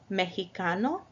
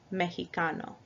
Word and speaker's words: mexicano: A second way is like in Mexico, mexicano, where the X sounds like a J in English. Mexico, mexicano. I'm sorry, like an H in English.